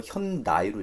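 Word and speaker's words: Hyundai: 문화적 특성을 고려해서 현대도 사람들이 막상 미국 사람들이 발음하는 거 현다이로 읽어요.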